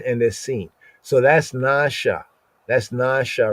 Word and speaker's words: נשא: So I guess by just looking at what is written in the English and ignoring the diacritical marks like the N over the A is a long A sound, right? The stroke over the A over the S is like an inverted arrowhead, and that means that that S is syllabated.